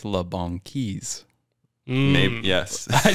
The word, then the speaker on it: La Banquise: So last podcast, I said it's either La Banquise or La Banquise, but it's La Banquise.